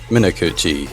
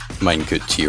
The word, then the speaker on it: Minakuchi: And Minakuchi can just kind of play everything. Minekuchi, rather. That's how the name is pronounced.